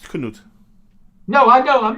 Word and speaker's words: Cnut: his name was a Knut he was cannot cnut yeah and which is actually not that different from Kent I'm just saying true that but it's still pronounced Knut no I know I'm not saying that I'm